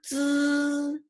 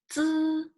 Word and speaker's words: z: Just remember, z sounds like needs. So when you say needs, z, z, and with this z, make it longer.